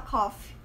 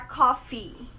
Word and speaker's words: coffee: Muita gente fala coffee. E coffee é tossir. O certo é falar coffee. Você dá uma entonação no final da palavra, coffee.